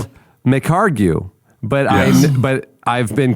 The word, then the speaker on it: McHargue: me to remind me do not pronounce those last two letters. It's McHargue.